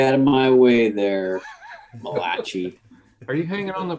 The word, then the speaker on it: Malachi: yeah Patrick did l14 what is the proper pronunciation it's Malachi read your Bible man Malachi I thought that was